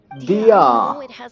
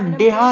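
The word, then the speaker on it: Dehya: दिया अरे दिया नाम है यार डिया नहीं दिया दिया लोल दिया नाम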